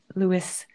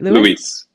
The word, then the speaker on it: Luis: And it's just, as Lewis said, right. That's what I'm saying it right. Luis. It's that little extra Luis. Don't worry. Think of peace. Think of Luis.